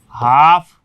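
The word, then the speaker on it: half: उसी प्रकार से इसमें था कि के से पहले एल है तो एल साइलेंट, एम से पहले एल है तो साइलेंट, एफ से पहले एल है तो एल साइलेंट। ये पाम, कम, हाफ, काफ।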